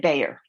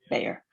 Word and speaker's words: Bayer: We say it Bayer, accent on the Bay, Bayer.